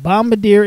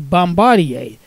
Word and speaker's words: Bombardier: Mark of the B Bombadier Incorporated Transportation equipment group now I've also heard it pronounced as Bombardier so pick your preference potato potato and now